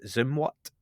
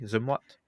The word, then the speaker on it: Zumwalt: It was the USS Zumwalt. Am I pronouncing that correctly? Zumwalt?